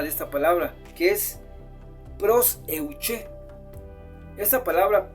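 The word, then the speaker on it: προσευχή: Hay una palabrita más que va acompañada de esta palabra, que es proseuché. Esta palabra proseuché es una oración general, es una oración generalizada cuando tú oras por todo.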